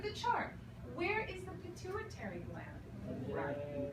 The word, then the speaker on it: pituitary: this one called the pituitary gland pituitary gland repeat pituitary gland it sounds very strange it almost sounds like church you know it's a very difficult word to pronounce it the pituitary gland